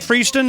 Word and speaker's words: Freeston: Freon he's in am I saying it right fron is that how you say your last name that's right yeah now let's see